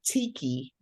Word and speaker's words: Tiki: again because I think I said I said techie but maybe it's Ticky I'm not sure yes um hello fellow Toast Masters my name is Tiki Tiki yes all